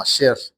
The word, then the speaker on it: Asher: Las primeras frases y palabras la encontramos cuando los nace uno de los hijos de de Jacob, al cual se le pronuncia como Asher.